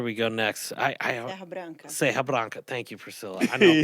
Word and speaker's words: Serra Branca: Serra Branca.